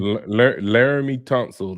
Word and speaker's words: Laramie Tunsil: And like you say, Larry how you pronounce his name again? Laramie Tunsil, Lake City, Florida.